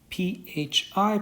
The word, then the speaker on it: Phi: this guy we're using the symbol Phi pH I pronounced Phi okay so we can